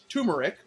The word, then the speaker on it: turmeric: Now, its common name is pronounced a bunch of different ways, but I pulled the pronunciation key and verified how you're supposed to pronounce it. Turmeric. Sometimes pronounced turmeric or turmeric.